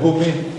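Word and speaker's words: Beaume: Vous avez des villages qui s'appellent Baumé. Alors, Baumé, à côté d'Hirson, ça s'écrit B-E-A-U-M-E, mais ça s'est écrit Baumé avec TZ à une époque.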